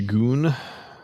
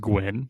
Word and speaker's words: Gwyn: The Goon. The Gween, I don't know. I was actually informed it's pronounced Gwyn, and I was like, oh no. There was no W, there is no E.